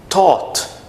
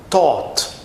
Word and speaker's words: taught: Então, não é som de F, veja bem. Thought, o F não tem a língua entre os dentes. Fought e taught.